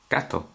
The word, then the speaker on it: que: and E together we get the sound of I you do not pronounce the U is silent most times almost all the time you only pronounce the E this can now be